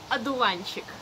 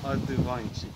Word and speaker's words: одуванчик: Божий одуванчик. Одуванчик. Yes. Something related to the word одуванчик. Одуванчик. Аду from ад. No, it's spelled through O.